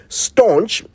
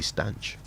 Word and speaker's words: stanch: Staunch now means stanch. People said it wrong until it became right. Yes, you hear people say, well, I tried to staunch the bleeding, staunch the flow. It's actually stanch.